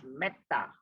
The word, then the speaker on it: Metta: Now here is an exception. We say when E appears before a double consonant, that is double T here. So because Metta. But ta is a long A here, so it's Metta.